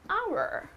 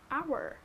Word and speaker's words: hour: back in an hour hour okay and then again your article indefinite article here so you would say that's not a wobble however it is pronounced as our right the H is silent here so that becomes your